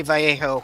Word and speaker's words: Vallejo: And I say Vallejo, I'm trying to pronounce it correctly instead of going Vallejo, which I used to do, or Vallejo.